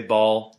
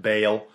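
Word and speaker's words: Baal: Bale b a a I say ball apparently it's pronounced Bale whatever anyways the important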